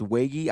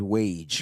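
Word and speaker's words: Waege: that's how you say his last name it's Wiggy I was pronouncing him his wage because it just sounds so much better but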